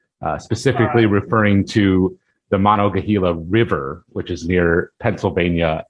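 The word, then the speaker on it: Monongahela: that means so monogahila i might even be wrong but i i think it's pronounced monogahila uh refers to a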